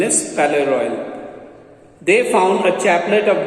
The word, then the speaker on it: Palais Royal: In a shop of the Palais Royal, it is Palais Royal, Palace Royal is written, pronunciation is Palais Royal.